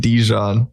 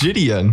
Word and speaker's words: Gideon: Because you had his name wrong. Fucking idiot. It's Gideon.